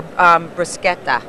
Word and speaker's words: bruschetta: They're really good for bruschetta. They're delicious. Or a piece of like grilled salmon. Did I say that correctly, You by the did. way? It's a hard C.